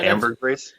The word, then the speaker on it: ambergris: ambi ERG it R is you know yeah ambergris yeah there's a hundred pages on that yeah